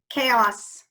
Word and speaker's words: chaos: machine machine yep you heard that sh french chaos we already did chaos oh we did let's